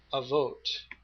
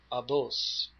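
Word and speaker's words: אבות: So this would be uh abos. Um this would be the v would be pronounced as a b. Uh in the sphartic of course sphartic language it's avote.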